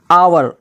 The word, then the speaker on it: hour: आवर, HOUR, आवर, यानी कि यहाँ पर भी H के बाद OU यहाँ पे दोनों मिल गया है तो यहाँ पर भी क्या हो गया, H साइलेंट हो गया।